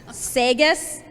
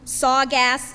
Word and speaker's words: Saugus: We have heard everything, Saugus to Sawgas Sackums.